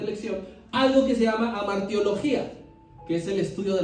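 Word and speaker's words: hamartia: idioma entonces pecado viene del griego amaría sí h a m a r t acento en la i y a del griego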